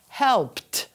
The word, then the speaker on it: helped: The ED will sound like helped. Very important to pronounce helped. That's what makes the difference between the present and the past.